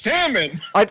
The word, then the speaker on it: salmon: say salmon it's pronounced salmon you don't pronounce the L no the l i